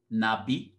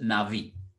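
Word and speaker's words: נביא: So in the Hebrew Bible, the primary Hebrew word for a prophet is the word Nabi, or you can pronounce it Navi. It depends on which style of Hebrew you pronounce, Navi.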